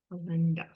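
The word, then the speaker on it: Kalendas: So the the vowel is short but the syllable is long. If the vowel were long there, that e, we would say a, right? Like so we say e, but the stress still goes there because the syllable as a whole is long because there's two consonants.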